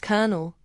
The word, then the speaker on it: colonel: Colonel is pronounced kernel, one of English's strangest pronunciations.